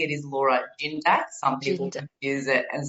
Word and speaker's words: Gindac: And yes, you did say or pronounce my name correctly. It is Laura Gindac.